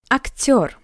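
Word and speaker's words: Актёр: Актер. Актер. You see yo after T. That's why T is soft.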